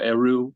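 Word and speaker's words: erhu: Originally I wanted to use, I think you pronounce it Iru or Eru, Mm-hmm.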